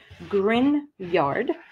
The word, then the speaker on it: Grignard: First of all, grineyard is spelled like this, but it is pronounced as if with Hawaii. Grinyard.